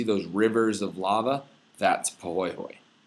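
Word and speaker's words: pāhoehoe: So the two main types of lava flow you need to know are what are called poy hoy right which is this first one and the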